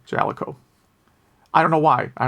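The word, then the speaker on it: Jaleco: i guess it does note that in some games they do pronounce it at the boot screen and it is pronounced uh jaliko i don't know why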